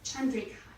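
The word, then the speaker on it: candrikā: The C is pronounced cha, so it's cheto and chandrika.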